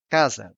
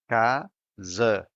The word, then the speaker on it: casa: Casa, which means house. The stressed syllable is in ca, so the first A is open and the other one is shut. Casa.